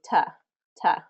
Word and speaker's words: to: to the store typically native English speakers don't say to they say t t because we say it frequently enough and it's easier to say as t as we're going to the store going to the store